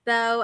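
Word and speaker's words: beau: It is spelled It is spelled b a Yeah. That's b e a u on the back and then inside it's bow as in You know what?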